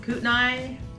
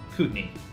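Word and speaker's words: Kootenai: Lexi kick this off our first word is CNE often Mis pronounced Cai or cout c County this is our County cutney County uh pretty much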